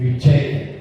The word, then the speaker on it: Mircea: Eu também já falei isso, porque o professor universitário me corrigiu, o termo pronuncia correto é Mircea.